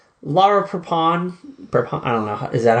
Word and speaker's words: Laura Prepon: And like I know like Laura Prepon, I don't know, is that how you say her name? Laura Prepon.